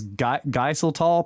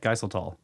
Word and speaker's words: Geiseltal: Okay, Watcher says Geiseltal possibly is how you say this. Thanks, Watcher. That's probably right, Geiseltal.